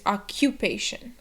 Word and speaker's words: occupation: So it's occupation. And remember to stress the syllable before the shun.